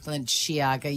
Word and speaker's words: Balenciaga: Is it Balenciaga? Yeah, man. Balenciaga, you can say.